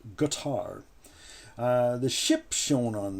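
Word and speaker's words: Qatar: is spelled q-a-t-a-r and it's not pronounced quattar it is in fact pronounced guitar uh the ship shown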